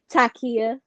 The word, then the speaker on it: Takiyah: pronounce mine Takiyah. Oh, it's Takiyah. Okay, okay, Yeah, okay. Because I'm a like, lot of okay, people it looked like pronounce it wrong.